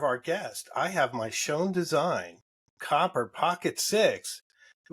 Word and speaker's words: Schon: do you pronounce it it's pronounced Shan shown okay yeah like and it's not like in German yeah okay okay then